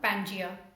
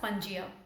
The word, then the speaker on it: Pangaea: Today we'll be doing a term Pangaea, or you can also pronounce it as Pangaea.